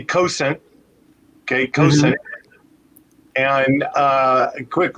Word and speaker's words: Cosaint: i pronounce it differently i pronounce it weird and i cannot stop doing it it's driving me nuts i always say let me help you with that so um so we we say cosent okay and uh a